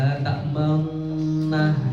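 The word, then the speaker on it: لا تأمنا: Kayak la ta'manna gitu dalam surah Yusuf kalau nggak salah itu. La ta'manna itu ada itu bacanya agak monyong.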